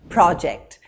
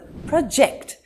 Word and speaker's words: project: the next word now when the word is used as a noun the first syllable is emphasized for example project i have a project to work on and when it's used as a verb the second syllable is emphasized for example project he projects himself very well now in this sentence